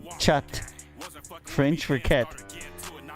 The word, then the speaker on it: chat: us about the french it's spelled chat but you don't say the t it's silent so like a silent